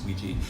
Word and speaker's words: Ouija: do you have a preference it was originally pronounced oui je and then by the 1920s people would say